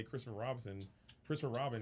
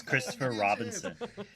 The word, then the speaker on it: Christopher Robin: Someone's going to play this and give their, non-honey character honey and play Christopher Robin, excuse me. You're just adding extra syllables. He always says Christopher Robinson.